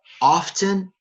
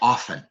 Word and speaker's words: often: And in American English, you can pronounce it often or often. И на английском, в американском английском вы можете произносить ее через буковку T. Sometimes the T is quiet and sometimes it's not. Иногда ее не слышно, иногда вы ее произносите.